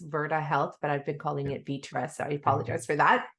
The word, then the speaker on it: Virta Health: So we got Virta Health, Virta Health. I just wanted to correct the pronunciation on that.